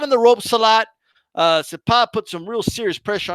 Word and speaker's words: Cepeda: Okay, Cepeda, whatever you want to. Cepeda is the right way to pronounce it.